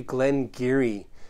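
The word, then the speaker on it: Glen Garioch: highland single malt whiskey this is actually Glen Geary you can spell that Garioch if you want to spell it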